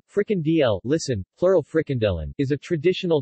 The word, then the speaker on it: frikandel: a frickhandle dutch pronunciation fricken dl listen pluralfricandelen is a traditional dutch snack a